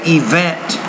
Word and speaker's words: event: so i would say event event stress on that second syllable high school well this